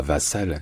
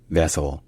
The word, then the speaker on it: vassal: Et en anglais, ça ne se dit pas vassal, ça se dit vassal, vassal, vassal, vassal. Donc avec l'accent sur la première syllabe et qui est un A qui est court. Donc ce n'est pas un A, c'est un A, vassal.